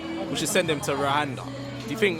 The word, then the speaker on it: Rwanda: Rwanda.